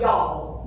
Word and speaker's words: Jael: Her name is pronounced y'all.